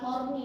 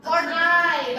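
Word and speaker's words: Horney: bacanya apa kon siapa awas jangan sampai salah baca kan apa bukan horni dong saya horni bukan horni ya bacanya Horn ey bacanya Ya bukan horni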